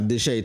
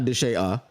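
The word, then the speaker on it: Deshea: But then again, we do have Deshae Townsend, not Deshae. That's not how you say his name, right?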